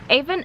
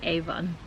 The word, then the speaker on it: Avon: of the open River how do you say Evan Evan Evan okay well I've always learned to say Avon I don't know what I think so Evan descent Evan okay Evan oh okay so we're at the